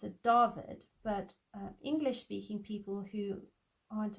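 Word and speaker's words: Dawid: pronounced differently so like a w is actually not pronounced what it's pronounced it's got a v sound so if you have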